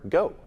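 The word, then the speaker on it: Geaux: And remember, GO is spelled G-E-A-U-X.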